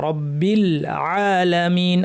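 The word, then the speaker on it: رَبِّ الْعَالَمِينَ: লিল্লাহি হবে লিল্লাহি নয় রব্বি এখানে রটা ভারী হবে রব্বিল এই লামটাতেও কলকলা এভয়েড করতে হবে রব্বিলে এভাবে না রব্বিল আলামিন রব্বিল আলামিন এখানে আমরা ইয়া সাকিনের পরে নুন আছে।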